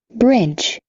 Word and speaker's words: bridge: bridge, Bridge. D também não pronuncia.